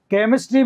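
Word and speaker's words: chemistry: क कूल में क केमिस्ट्री में भी क और सिटी में स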